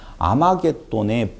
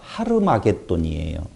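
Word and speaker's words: Armageddon: 아마겟돈의 본 발음은요. 하르마겟돈이에요. 하르마겟돈. 네, 요한계시록 16장 16절에 나와 있는 아마겟돈은 하르마깃돈의 헬라식 표현이에요.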